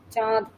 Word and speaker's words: চাঁদ: আর হুম, চাঁদ বললে চাঁদ বলি না, চাঁদ বললে কথাটা ঠিক, মানে নাক দিয়ে উচ্চারণ করতে হয় চাঁদ চন্দ্রবিন্দুর জন্য।